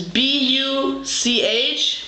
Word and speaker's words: Buch: Book in German is B-U-C-H, pronounced Buch.